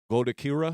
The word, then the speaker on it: Goddokira: And today, we got Goddokira.